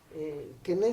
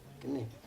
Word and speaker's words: Quesnay: Quené se pronuncia en francés, se escribe Quesnay, algo así, ¿no? Quesnay, ¿sí? Quené.